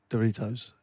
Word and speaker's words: Doritos: primary school teacher and the or sound is actually pronounced as in shut the door hope I haven't started another domestic so how would you say I would say Doritos you say yeah that's